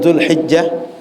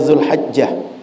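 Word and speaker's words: ذو الحجة: tadi, yaitu bulan Dzulqa'dah, kemudian Dzulhijjah, sebagian bacanya Dzulhajjah. Sehingga Bapak Ibu kalau berjumpa Dzulqa'dah, Dzulqa'dah, keduanya diterima orang Arab. Kemudian Dzulhajjah, Dzulhijjah, keduanya diterima oleh orang Arab.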